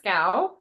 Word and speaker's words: Schow: And Lana Schow is SCHOW. So make sure you get that H in there. Lana Schow. I used to pronounce it wrong all the time. I would say it's okay. Everybody does. Shout.